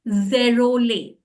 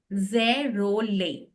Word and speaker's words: Zerolet: You can just chant zerole, zerole. T Huh? is silent.